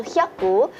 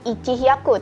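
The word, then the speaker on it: 百: 100 kita cukup baca hyaku, tidak perlu kita sebutkan ichi hyaku, teman-teman, langsung hyaku.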